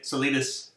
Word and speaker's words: Solitis: So I'm from Southern California, so I say Solitis. Yeah, and I gotta remind people it's not Spanish, it's Greek, so it's the long I.